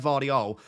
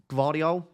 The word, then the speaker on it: Gvardiol: So in second, I do have Gvardiol. Gvardiol? Do you pronounce the G? Do you not pronounce the G? It's like a soft G.